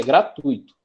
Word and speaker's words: gratuito: errado então preste atenção a palavra gra e não existe o que existe é gratuito certo existe gratuito então se o correto é gratuito significa dizer que essa palavra não vai ser o que é uma palavra paroxítona tranquilo nesse caso dois